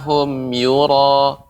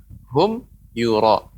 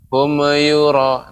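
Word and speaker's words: هُمْ يُرَاءُونَ: Hum yura, hum you, memang harus jelas, nggak boleh hum yura. Nah itu tidak boleh, berarti dia memantul humnya. Humnya harus dibaca jelas. Hum yura, hum you, ya, jangan terlalu ada jeda.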